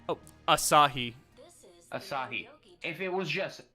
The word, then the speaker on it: Asahi: How did you say it was pronounced? Oh, Asahi.